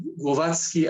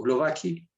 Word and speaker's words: Głowacki: En las láminas que ilustran la cerámica decorada por Mary Głowacki, así se pronuncia en polaco Glowacki, tenemos estos ejemplos y